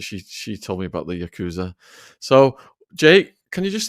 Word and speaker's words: Yakuza: Is it pronounced Yakuza? It is pronounced Yakuza.